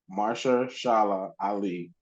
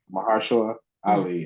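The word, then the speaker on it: Mahershala Ali: like from I what I know Mar Mara Mara Shala Ali Mar was the one I said it wrong yeah mahara Ali is the one who wanted to make this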